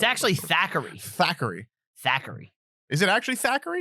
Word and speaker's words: Thackeray: Thackeray.